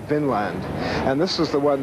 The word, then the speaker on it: Vinland: to, in modern days, see it as V-I-N with an accent on the I, Vinland, meaning land of wine or land of grapevines.